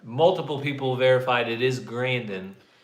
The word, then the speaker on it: Grandin: Grandin. Temple Grandin.